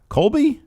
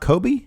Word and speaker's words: Colby: I've ever seen kby Co you think they pronounce the L yeah Colby yeah it's not Kobe no it's Colby with a silent l no